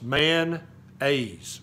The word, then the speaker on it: mayonnaise: It's two syllables, man-aise. You ever heard that? It's not mayonnaise. There's no O in Tennessee.